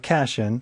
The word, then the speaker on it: cation: I know, looks like cation, but we pronounce it cation.